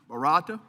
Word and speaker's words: Barata: Barata. Is that correct? Barata.